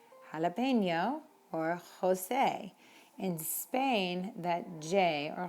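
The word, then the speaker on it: José: especially during the pandemic jose in spain is pronounced with a very very almost in the back of your throat sound so you might hear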